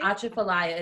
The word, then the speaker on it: Atchafalaya: How do you say Atchafalaya.